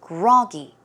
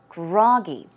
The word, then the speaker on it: groggy: So the stress goes on the first syllable. It is groggy, groggy.